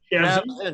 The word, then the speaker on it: Shavzin: Shavzin, just like it sounds.